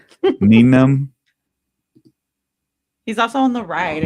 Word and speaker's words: Nien Nunb: Nien Nunb?